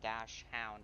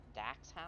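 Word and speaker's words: dachshund: No, well, it's not Dash Hound how it's spelled there. 301, I'm gonna be. Dax Hound?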